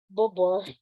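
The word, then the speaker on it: Beaubourg: Yeah, George Pompidou Center, also locally known as Bobor. Bobor, as in Bobor, yung kanyang name, pero it's spelled differently.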